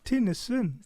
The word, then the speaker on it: Tinnesand: did I pronounce it right? Tinnesand. Tinnesand.